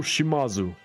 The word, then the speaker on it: Shimazu: So I've heard this thing that with Japanese names, you put the emphasis on the third syllable before the end. So Shimazu, that would actually be Shimazu. But Shimazu feels more normal to me. I'm going to say Shimazu, which might be wrong.